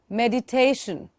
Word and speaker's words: meditation: And meditation, please learn to say the word correctly. Meditation. See where I'm stressing in the word.